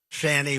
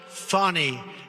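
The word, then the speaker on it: Fani: the horrible case of Fanny Willis it's it's actually pronounced fonny it's f a n i but you pronounce it fny a little French accent there funny but that's a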